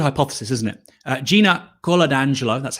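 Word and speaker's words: Coladangelo: it's a good hypothesis isn't it uh gina carla d'angelo that's how you say it is leaving her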